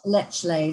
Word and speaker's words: Lechlade: How do you pronounce Lechlade? Is it Lechlade? Lechlade, yes.